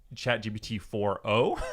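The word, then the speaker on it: GPT-4o: me one so the new model for chat GPT is chat GPT 40 is how they're kind of pronouncing it it's like a four and the letter o yeah they are making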